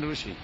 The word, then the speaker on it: Rishi: rushi RI the modern rushi what is that rushi rushi oh RI yes you call it Rishi we call it rushi that is the difference in pronunciation just like the they